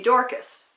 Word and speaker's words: Dorcas: read that oh well tabitha was the way you say her name in the aramaic language that they talked back then if you were going to say the same name in greek it would be dorkas both tabitha and dorcas